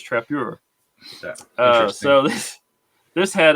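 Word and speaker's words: Trappeur: uh yeah it's like it's written in french it's t-r-a-p-p e-u-r it's not trapper it's trappier oh so this this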